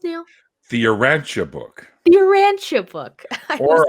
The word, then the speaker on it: Urantia: How is it pronounced, Neil? The Urantia Book.